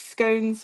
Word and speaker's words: scone: Uh, Amy says, "I love both cheese scones with butter and oh, scone rhyming with gone."